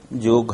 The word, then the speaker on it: योग: योग, लेकिन दुखद घटना है अभी कि हमारे देश के लोग योग को योगा कहने लगे हैं।